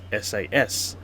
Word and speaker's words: SAS: I can access the SUS Gold Lounge with my economy class ticket. And yes, I know Scandinavian airlines should be pronounced as SAS.